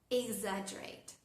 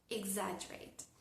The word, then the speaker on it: exaggerate: Y otro ejemplo es la palabra exaggerate. Exagerate no suena k, pero si la palabra empieza con exe o con exi, ahí sí suena.